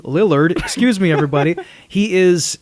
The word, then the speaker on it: Lillard: ] love that line Matthew lard is like I keep mispronouncing his name Matthew Lillard excuse me everybody he